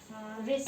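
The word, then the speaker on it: wrist: डब्ल्यू से आता है इसे भी। रिस्ट मतलब डब्ल्यू साइलेंट है।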